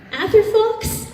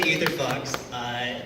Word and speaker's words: Etherfox: Atherfox. I'm sorry if I pronounced that wrong. Here you are. My name confuses me sometimes too. It's S.K. Etherfox.